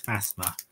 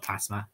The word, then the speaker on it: Phasma: Phasma. Phasma, I think it is. Phasma. Not Plasma.